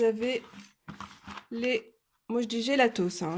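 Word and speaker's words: Gelatos: Moi je dis gélatos, hein. Il y a un S à la fin, je le prononce, voilà, il est là, je le prononce.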